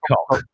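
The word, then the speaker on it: Koch: Right, I don't know how you pronounce this, but it's spelled K-O-C-H. So it could be pronounced Cock, or it could be Cock. Pronounced, yeah. I'm going to go Cock.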